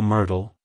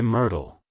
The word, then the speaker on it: Myrtle: soften the art sound the T is then pronounced softly almost like a d like hello Myrtle good by Myrtle if you found the